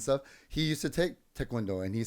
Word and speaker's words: Taekwondo: yeah it is not Taekwondo yes there is when I see t-a-e there's nothing in that that makes me think oh it's pronounced I or maybe